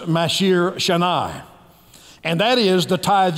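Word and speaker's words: מעשר שני: And then the second tithe is pronounced Mashir Shanai.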